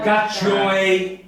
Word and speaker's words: cacciuei: Cacciuei. Bravo. Cacciuei. Si pronuncia cacciuei.